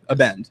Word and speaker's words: Abend: or Abend how do you say it abent Abend okay sorry abent is a German word that